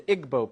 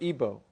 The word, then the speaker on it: Igbo: Another area in Africa you have uh something big happening is in Nigeria you have the Igbo people or Ibo pronounced either way.